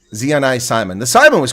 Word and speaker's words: Ziané Saayman: we're going to ask all right so Zeon Simon how close is that it's it's quite close I actually get that very often um but it's pronounced Simon zean Simon the Simon was correct okay so yeah